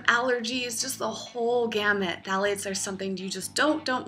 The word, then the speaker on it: phthalates: And one ingredient that it commonly includes is phthalates, spelled with a P, that has been linked